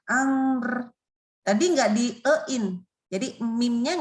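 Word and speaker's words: أمر: Nggak boleh amer. Nah, ini nggak boleh. Jadi bacanya lalu r-nya keluar. Amr.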